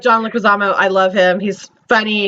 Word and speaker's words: Leguizamo: I can't pronounce his name, so if I butcher it, let me know. John Leguizamo. Leguizamo?